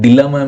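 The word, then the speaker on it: dilemma: Complicated situation में एक डलमा में है। डलमा का मेरे भाई डलेमा का डेलमा इज़ द करेक्ट प्रोनंसिएशन।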